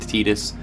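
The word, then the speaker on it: Tidus: Titus I've been told it's supposed to be pronounced tetus Yuna and tetus adorable just dynamic duo great characters um some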